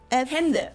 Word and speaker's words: Hände: Like, Sometimes we pronounce it a little bit like shorter a though, plant. so instead of like in Äpfel, which means Äpfel. apples in plural, Äpfel. or Hände, which means hands. Hände.